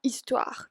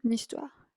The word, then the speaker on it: histoire: histoire, que es historia, empieza por una H muda en francés. Entonces, en este caso, no vamos a decir sa histoire, pero vamos a decir son histoire. Y ahí ven que también hago la liaison, son histoire.